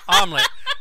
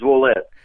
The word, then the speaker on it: Ouellette: So, I think what you're trying to pronounce is Ouellette.